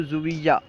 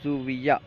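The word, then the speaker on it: ژوئیه: Zone کہیں گے۔ جولائی، جولائی کو زویہ، ٹھیک ہے، جولائی کو فارسی تلفظ میں اگر ہم ادا کریں گے تو یوں کہیں گے زویہ، جولائی زویہ۔ اگست، اگست کا فارسی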